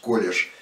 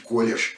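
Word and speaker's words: collège: произнесу колледже они колледже ну французски пишет колешь без это в.д. поскольку я выписывал конспект естественно читая разного рода литературу поэтому вот и пытаюсь произносить колешь именно как произносили его французы или произносят так вот в этом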